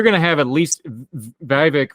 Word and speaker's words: Vivek: So you're going to have at least Vivek rhymes with snake, rhymes with fake.